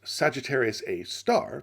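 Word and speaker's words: Sagittarius A*: i can however remain supremely peeved brown's choice of name for it for those who don't know sagittarius a asterisk pronounced sagittarius a star because we apparently must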